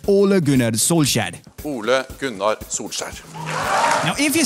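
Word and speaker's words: Ole Gunnar Solskjær: k in danish or the manchester united manager who's called ollie please it's easier oh laguna soul shad good night now if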